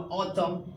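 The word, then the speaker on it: autumn: ऑटम। क्या पढ़ेंगे? Them. तो आई थिंक एम के बाद एन क्या होगा? साउंडलेस हो जाएगा। यानी साइलेंट हो जाएगा।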